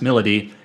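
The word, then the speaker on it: Milady: You meet the other three characters that join your battle party, which is Arrow, Melody. It looks like the name looks like My Lady, but it's pronounced Melody, and Saizo.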